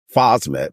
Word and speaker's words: phosmet: you not it and you pronounced it correctly phosmet which is an Organo